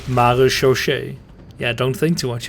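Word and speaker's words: marechaussee: But we pronounce it maréchaussée.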